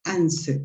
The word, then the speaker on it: answer: Remember, la W no se pronuncia. So it's answer.